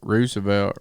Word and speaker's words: Roosevelt: Like, I'll stand to be wrong because, I made fun of you about Teddy Roosevelt, but really, it's spelled the same way you spell rooster, Roosevelt, rooster.